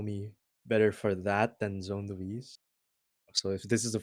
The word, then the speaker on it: zonelouise: Today with zonelouise.